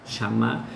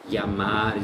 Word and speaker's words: llamar: En la región rí platense, en Uruguay, en Argentina, es parecido a Cag Shamar. Shamá. Entonces es un realmente es una es un dígrafo, ¿no? Son dos letras que puede tener más que tiene más de una pronunciación, ¿no?